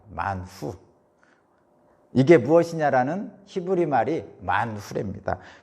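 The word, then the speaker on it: מן הוא: 이게 무엇이냐라는 히브리 말의 발음이 만후라고 그럽니다. 만후.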